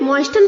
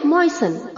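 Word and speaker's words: moisten: है बच्चों मयन मयन इसे हमें मोइन प्रोनाउंस नहीं करना है मयन में टी साइलेंट है तो हमें इसे प्रोनाउंस करना है मयन ओके मयन मयन मयन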